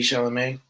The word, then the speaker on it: Chalamet: like Timothy Not them pop Chalet or like, yeah, oh, whatever. Harry Styles, like he's Isn't that not how you say his name? Timothy Chalet? Timothy Chalamet.